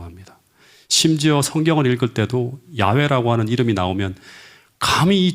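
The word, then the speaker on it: 야훼: 심지어 성경을 읽을 때도 야외 라고 하는 이름이 나오면 강의 죄인의 입에 그 입을 담 그조차도 불경 하다고 생각해서 본래 발음대로 잃지 않고 어떻게 잃는다 아도나이 이랍니다 주님 이라고 이렇게 읽었어요 아 음 그래서 이스라엘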